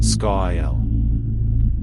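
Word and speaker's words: scáil: for shadow, scale, and hovered over the pronunciation, scail.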